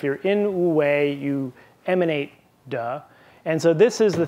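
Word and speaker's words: 德: The second is this idea, unfortunately in modern Mandarin it's pronounced duh, which always makes my students giggle.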